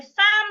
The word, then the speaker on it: thumb: So there is a difference between thumb and tum. Tham. This is thumb. Tum. T o m b.